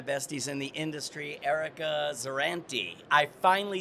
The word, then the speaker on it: Zerante: So excited cuz I am with one of my besties in the industry, Erica Zerrantue.